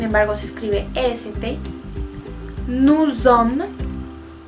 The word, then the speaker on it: sommes: Nous sommes. Como hay doble M, se hace énfasis en esa M y no se pronuncia la S del final.